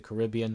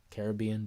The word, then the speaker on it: Caribbean: I remember his entrance too, the way he was swinging on that rope, because Pirates of the Caribbean, or Caribbean, depending how you say it.